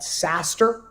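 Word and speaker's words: SaaStr: lot of that is a site called saster it's spelled s-a-a-s-t-r and uh to those in in the valley you'll know the acronym sas is software-as-a-service right so saster is uh is a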